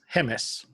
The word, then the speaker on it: Jemez: New Mexico around the Jemez. Is that how you say it? Hemis. Hemis, okay. Yeah, the J sounds like an H.